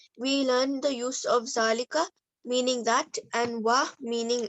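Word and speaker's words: ذٰلِكَ: Note: Zalika is pronounced Zalika, but is written without alif.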